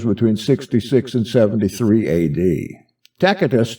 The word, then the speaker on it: Tacitus: 66 and 73 a.d takatus tells us some people pronounce that tacitus that the doors of